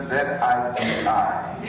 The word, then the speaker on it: Zibi: Lucia Zibi says, and it's spelled Z-I-B-I, that's Zibi.